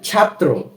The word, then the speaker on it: ছাত্র: ত্রি রাত্রি রাত্রি এরপর ছাত্র ছ আকার ছা ত র ফলা কি হয় ছাত্র বানান দুই শব্দের কিন্তু যখন আমরা উচ্চারণ করতে যাই তখন মনে হয় যে এখানে আরো একটি ত রয়েছে যেমন ছাত্র ছাত্র এরপর